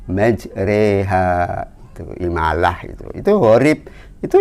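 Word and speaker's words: مَجْرَاهَا: harus bacanya bismilahi majreha tulisannya majroha tetapi kita bacanya majreha teuing Allah itu Hurip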